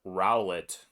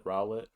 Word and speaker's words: Rowlet: you pronounce it but it's just owlet with an r at the start okay then yeah you're